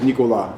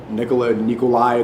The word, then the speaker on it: Nicolas: Yeah, my real name is Nicolas. It's a French name. Some people say Nikolai. They don't. Americans can't pronounce it properly, so SNEAKO is easier.